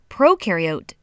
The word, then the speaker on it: prokaryote: Prokaryote, the pro rhymes with no, and they have no nucleus, which holds the genetic material and controls the cell's activities.